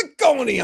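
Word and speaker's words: Cecconi: Well, because in Italian the double C is supposed to be ch, right? Well, it's it's Ciconi on the pronunciation guide.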